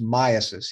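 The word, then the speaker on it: myiasis: In fact, Dr. Rapini says it should be pronounced myasis. He's probably right, but I've always heard of myasis.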